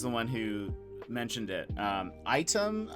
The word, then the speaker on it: Aitum: Item, I guess is how you say it. It's AITUM. Might work better. There are some things that I cannot do currently on Item that I know I can do on Sammy.